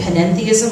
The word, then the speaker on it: panentheism: where the end so pantheism and panentheism I like to think of it as the extra syllable is something more so